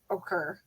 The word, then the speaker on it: ochre: Ochre. I like Okay. I like the other version better. Right, what's the right one? That one I had to look up. It's apparently just occur.